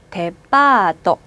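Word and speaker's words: デパート: 백화점은 데파트먼트를 데파토.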